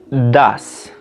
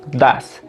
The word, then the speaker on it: does: En este caso, do se va a pronunciar das, como decir el número 2, das.